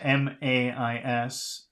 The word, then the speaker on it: mais: Next word is M-A-I-S. That's like P-A-I-X, so that should be me. Mais. Me. Next word is M-E-S. I think that's also me. Mais.